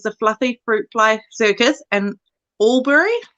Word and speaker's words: Albury: So she grew up training and performing with the Fluffy Fruitfly Circus in Albury, I'm guessing that's how you say it, New South Wales. Albury, yep.